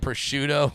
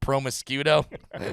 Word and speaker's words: prosciutto: But you're also talking to the guy that thought until like the age of 30, I thought prosciutto was pronounced promiscuito.